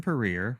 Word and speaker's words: Puryear: right away so career rhymes with career and this is everything